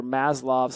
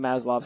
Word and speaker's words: Maslow: gonna discuss today under maslov's hierarchy and russian lineage or something so I think it's pronounced at Maslov but it's Abraham Maslow's hierarchy of needs and this